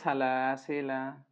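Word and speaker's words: سلاسلا: সেখান থেকে ধরতে পেরেছিলাম তাহলে সালাসিলা ঠিক আছে এখানে সাকিন করা যাবে না লেখার সময় এসেছে আলিফটা উচ্চারণে আসবে না তাই এখানে মাদের চিহ্নও নাই তাহলে সালাসিলা এতটুকুই মিম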